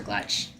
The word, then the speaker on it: Glutch: I thought it said Manhunting Gulch, but just the Glutch. Sorry, I keep calling it a gulch. It's not even that. It's a glutch.